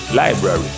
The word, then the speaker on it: library: Then another word is like library, library, library. Some people say library, but it's library, library.